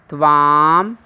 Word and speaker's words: तव: यहाँ प्रायः बच्चे तब बोलते हैं, परंतु यह उच्चारण अशुद्ध होगा, गलत होगा। संस्कृत में तव उच्चारण होना चाहिए।